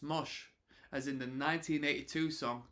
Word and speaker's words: mosh: the dance was frequently spelled Mash in fanzines and record liner notes but pronounced mosh as in the 1982